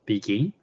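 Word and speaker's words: BGIN: blockchain governance initiative Network bgi we pronounce it begin this is a open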